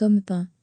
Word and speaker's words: Amphan: Amphan, se prononce Amphan, a atterri vers 18h